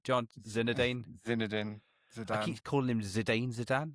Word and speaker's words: Zidane: Or like, how do you pronounce his name, John? Zinedine? Zidane.